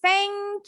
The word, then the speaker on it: thank: Jadi pengucapan thank you atau thanks harus TH-nya jelas. Udah pinter nih pengucapan thank. Yes. Jadi no more thank you dengan bunyi T. Salah.